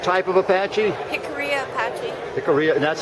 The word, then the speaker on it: Jicarilla: I've been trying to say it, Jicarilla. See, I'm trying to pronounce the J in there. It's You know, more like Spanish.